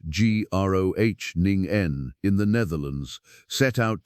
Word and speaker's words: Groningen: So a team led by Professor Mladen Popovic, pronounced Mlah Den Popovic, at the University of Groningen, pronounced Groningen in the Netherlands, set out to build something better.